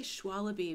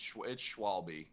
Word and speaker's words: Schwalbe: I always want to say Schwalabi because it sounds like so awesome. Is that really how you say your name, Schwalabi? You're close. Yeah, it's Schwalbe.